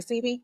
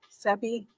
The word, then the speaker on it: Sebi: Sei? Yeah, Dr. Sei. Sebie.